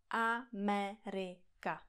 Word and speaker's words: Amerika: Takže například tohle slovo v češtině vyslovíme jako Amerika. A, e, i, a. Amerika.